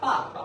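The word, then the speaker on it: 爸爸: Jadi kayak misalkan papa. Papa itu sebenarnya kan nada 4 sama nada 4. Tapi kita bacanya papa.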